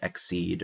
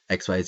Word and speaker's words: XYZ: Synchro Summon um and yes I know it's pronounced exceed or something like that but XYZ is what it looks like that's what I'm going to go with so XYZ summon